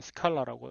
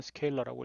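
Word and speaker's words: scalar: 벡터에 대해서는 스케일러 곱셈을 정의할 수 있습니다. K를 리얼 값, 스케일러 값이라고 하겠습니다. 우리 고등학교 수학책에는 스칼라라고 읽는데 실제 발음은 스케일러라고 있습니다.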